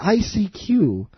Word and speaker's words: ICQ: The ICQ. Or as I believe that they would like you to pronounce it, I seek you.